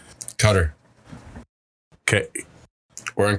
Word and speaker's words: Qatar: now made it to can you actually uh say the pronunciation for me i tend to get it wrong is it cutter okay we're in cutter katar cutter cutter that's what